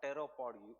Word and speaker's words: pteropod: Ooze from the animals such as crabs जिनके बहुत ज़्यादा पैर है, they will be petropod or pteropod ooze because P is silent.